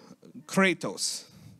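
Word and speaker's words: κράτος: word in the Greek well maybe I'll try katos I think that's how you say k r a t oos it's strongs 2904 here's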